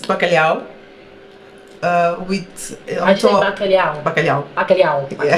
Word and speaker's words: bacalhau: The cod, so this is Portuguese bacalhau. Okay, yeah. Yeah. Okay, what have you done with it here? This looks incredible. It's grilled skin potatoes. Uh-huh. It's bacalhau.